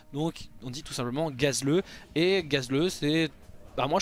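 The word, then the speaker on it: Gazlowe: nom concernant gazeleux puisque en anglais ça se prononce Gazel sauf que le problème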